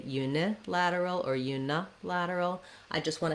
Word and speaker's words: unilateral: You're always going to have the stress on the lad syllable, the la, unilateral, bilateral, trilateral.